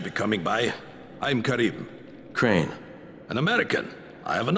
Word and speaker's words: Crane: store no my name's crane crane crane rhymes with train and brain and sign and grain